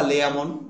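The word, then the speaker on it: Layamon: মাছের লেজা তাই না লেজামন বা লেয়ামন অনেকে লেমন উচ্চারণ করে লেয়ামন এবং অর দুজন হচ্ছে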